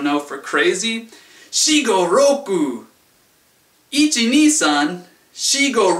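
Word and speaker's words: ろく: Shi go roku. Shi go roku. Roku kind of sounds like loco, which is Spanish in case you don't know, for crazy. Shi go roku.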